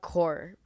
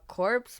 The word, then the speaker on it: Corps: Plasma Core. Plasma Cores. But I pronounce it Plasma Corpse because that's how I've been pronouncing it since grade 2, even though it's wrong.